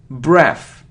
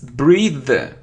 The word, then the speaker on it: breathe: look a complete so it isn't breath its breathe breathe breathe because it's a verb yeah because it's a